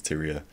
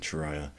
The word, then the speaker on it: Tyria: I do know it's Tyia. It's just I have a habit of saying Chiah.